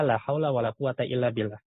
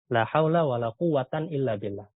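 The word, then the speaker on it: لا حول ولا قوة إلا بالله: Tadi kalau kita sebutkan aqwa al-wujuh, yang paling kuat cara bacanya adalah la haula wala quwata illa billah. Sedangkan yang paling lemah adalah la haula wala quwatan illa billah.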